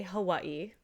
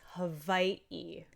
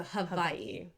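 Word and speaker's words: Hawaiʻi: So many people say Hawaii, right? And but in real Hawaiian pronunciation, it's havi.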